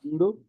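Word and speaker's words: الْحَمْدُ: Alhamdu. Huh? Alhamdu. Alhamdu. There's another one. That's the same ayah. Yeah, Alameen, right? Alameen. There we go. Alhamdu. Right? That's Hamzatul Qatl. Okay. Why? Because you pronounce the lam.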